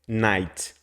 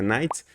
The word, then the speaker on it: knight: de cavaleiros que é Night quando tem k e o n junto em inglês a gente não pronuncie o k assim quando a palavra